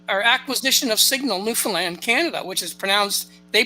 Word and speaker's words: Newfoundland: you may have heard the acquisition of signal Newfoundland, or acquisition of signal Newfoundland, Canada, which is they pronounce it Newfoundland.